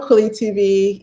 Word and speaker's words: Kweli: were being authentic to the way it's supposed to be pronounced. And so that is why I changed it to how I say it to Kweli, because I want to make sure that we're saying it correctly for our brothers and sisters who speak fluent Swahili, who are in that part of Africa.